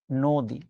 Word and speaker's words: নদী: আপনি যখন নদী বানানটা উচ্চারণ করতে যান, তখন শুরুতে কিন্তু চলে আসে নোং, তারপরে হচ্ছে দি, নদী।